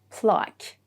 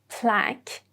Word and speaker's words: plaque: You see both c and last e are silent plaque the British pronunciation and plaque the American pronunciation with this form of u e at the end that are silent.